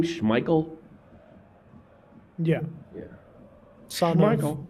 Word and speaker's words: Schmeichel: Schmeichel?